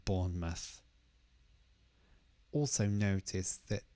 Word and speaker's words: Bournemouth: might try to say Bournemouth but the stress is on the first part so it sounds more like Bournemouth also notice that it's